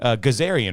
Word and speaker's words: Gazaryan: So we got Ike Gazaryan, right? That's exactly correct.